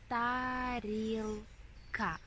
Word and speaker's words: тарілка: Can you guess these two letters, how they pronounce? If you say ka, you are completely right. Тарілка. Т-а-р-і-л-к-а.